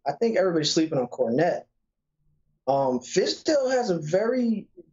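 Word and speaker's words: Kornet: And listen, I really do like Luke Cornett, or Cornette. That's how you say it, Cornette.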